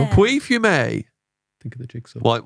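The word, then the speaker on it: Pouilly-Fumé: Pouli? You know to not say the L's, man. Puy? Think of the jigsaw. Yeah. Puy fume.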